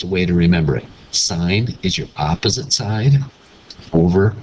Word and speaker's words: sine: going to learn is sign and you pronounce it sign and it's spelled s i n e this is cosine